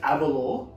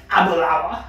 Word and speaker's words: Aberlour: an apple hour even though you read his abalore abalawa is how they pronounce it establishing the 1800 Century 1879 according